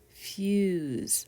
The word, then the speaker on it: fuse: you there few fuses and in this word it's a z sound but we spell it